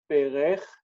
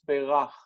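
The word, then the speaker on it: בֵּרַךְ: He blessed, rather than being berech, it's berach with an a in the second syllable. What happens with that is that the resh rejects the dagesh, so the syllable here instead of e becomes be, and then we have rach, berach. That means he blessed.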